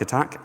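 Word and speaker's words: ATT&CK: so miter attack um yes it is an and but you kind of say it like attack um adversarial tactics techniques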